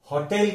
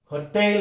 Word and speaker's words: hotel: इसका हम गलत उच्चारण होटेल करते हैं। इसका सही उच्चार होटेल है। ये सेकंड सिलेबल पर स्ट्रेस जाता है।